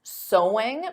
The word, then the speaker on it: sewing: did you get sewing because of course the pronunciation is the same as so there's no seing though adding an ing so so going is the activity but the pronunciation is the same as the word so let's talk about